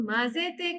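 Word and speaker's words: 混ぜて: Tamago o yoku mazete kudasai. Tamago o yoku mazete kudasai. Mazete. Ketemu sama hiragana dibacanya ma.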